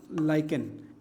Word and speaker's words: lichen: है लाइकन, ठीक है, प्रोनाउंसिएशन उसका एक बार देख लेना, लाइकन, LICHEN, लाइकन।